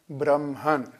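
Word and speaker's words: Brahman: כותבים את זה B-R-A-H-M-A, אבל מבטאים את זה, מבטאים קודם את ה-M ואחרי זה את ה-H. אוקיי? אל תשאלו אותי למה, זה איזה מין יוצא דופן בסנסקריט, אבל אומרים ברהמן. זאת הדרך הנכונה יותר לבטא את זה, ולא ברהמן כמו שלעיתים אנחנו שומעים, סתם שתדעו.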